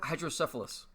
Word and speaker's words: hydrocephalus: Hydrocephalus.